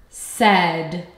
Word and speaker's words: said: Let's tap the sounds we hear. S-E-D. There are three phonemes. S-E-D. Now let's spell the sounds. Wow, my sound box is off. I feel air coming through my mouth. It is the consonant S. Eh. What sound do we hear here? Eh. Wow, I hear the short E sound.